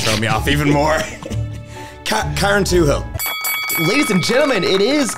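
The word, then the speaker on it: Carrauntoohil: me off even more karen two hill ladies and gentlemen it is karen twohill oh yeah it's also i was going to pronounce that as karanth to heil oh my god thank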